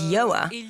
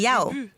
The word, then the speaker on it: Yoa: And the title comes from the fact that my name is Yoa. And since the start of my career, people often get my name wrong and call me Yao.